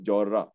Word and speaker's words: Jorra: So if you pronounce it Jorra, people will not know what you're asking for. The pronunciation of this place is Jorra. You kind of stay a little longer on the R.